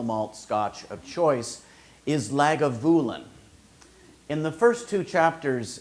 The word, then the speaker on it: Lagavulin: and his single malt scotch of choice is lagavulin in the first two chapters of the podcast I was not pronouncing it lagavulin what do I know I'm